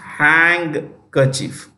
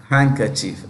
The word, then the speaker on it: handkerchief: with a G hand handkerchief okay or you can you can make it silent you can make it silent no issue absolutely can became silent the D can be silent handkerchief look at the